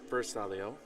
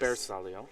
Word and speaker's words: bersaglio: That is not Bersaglio. Yes. Bersaglio. Bersaglio. Yep. I got to work on my pronunciation.